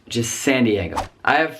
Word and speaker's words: San Diego: One more in California, San Diego, not San Diego, just San Diego.